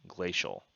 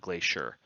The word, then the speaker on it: Glacial: This motherboard is the Maximus Z690 Extreme Glacial. I actually did, I said this wrong over here. I spelled it wrong, pronounced it wrong, all of that. So it's Extreme Glacial, not Glacier.